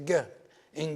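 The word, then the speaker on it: ⲅⲏ: Gi means earth. It's pronounced g.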